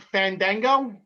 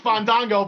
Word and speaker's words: Fandango: i might not be saying this correctly but fandango i didn't say it correctly no you didn't so he's not going to wrestle um no you're right i i don't think it's fondango but i i think he got hurt again